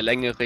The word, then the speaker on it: längere: Der längere Hebel. Der längere Hebel. Längere. Längere. Yeah. If you guys pronounce the E at the end.